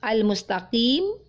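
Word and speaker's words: المستقيم: ihdinashirotolmustakim berikutnya huruf qaf saat membaca al-mustaqim al-mustaqim tidak ilmu staklim taklim ya karena kita fahami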